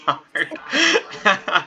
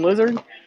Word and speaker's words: Lazard: Lazard. What is it? Alan Lizard?